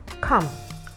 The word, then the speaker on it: come: you have a very simple everyday word come c-o-m-e the letter e is that word is silent you have plumber p-l-u-m-b-e-r